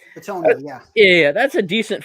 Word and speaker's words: Bitonio: Bitonio, yeah.